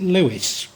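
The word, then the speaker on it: Leveson: skillful marriages such as and it written lon's and before I've said it called it Lon I believe they pronounce it Lewis such as the louises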